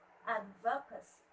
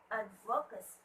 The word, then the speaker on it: advocacy: Advocacy. Advocacy. Very good. It's on the first syllable.